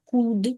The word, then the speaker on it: could: шосте і не міг could couldn't L не читається пишеться але не читається коли я був молодим